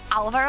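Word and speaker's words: Álvaro: Do you know, with Alvaro, I think the accent is on the A, because usually in Spanish it goes automatically on the second syllable. but it's on the first one.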